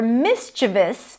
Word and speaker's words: mischievous: For example, the kids were mischievous during the break. Mischievous. A common mistake is to say this word as mischievous. Mischievous. Probably because of the spelling, but the stress is on the first syllable.